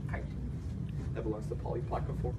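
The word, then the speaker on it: chiton: foot um there's another thing called it's not pronounced kitten it's pronounced height that belongs to polyplaca form and of course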